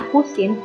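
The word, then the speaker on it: arcsin: Alfa itu adalah pakai arus Sin Arc itu dibacanya arus arus Sin 1/2ama Alfa Nah kalau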